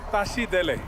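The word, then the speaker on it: Tashi Delek: you say Tashi Dele. Tashi Dele. Tashi Dele.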